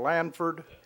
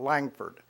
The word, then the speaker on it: Lanford: our council persons bill Lanford it's LAN F Ord there's no s in the middle like I pronounced it for a while and there certainly is no G in it there's it's not Langford its LAN Ford thank you thank you mr.